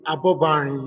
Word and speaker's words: Abobarin: Abobarin is my name. like H-A-R, pronounced H-A-R-Y-O-A-D-E, then Abobarin, like H-A-R-B-O-B-A-R-I-N.